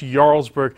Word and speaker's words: Jarlsberg: called Jarlsberg it's spelled with aj but it's pronounced Jarlsberg and its a Norwegian cheese that has a